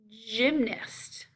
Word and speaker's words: gymnast: soft c to me gymnast gymnast that is a soft g like gentle giant giant once again